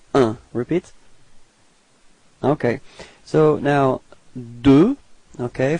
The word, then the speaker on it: deux: Okay, so now deux. Okay, final X is not pronounced.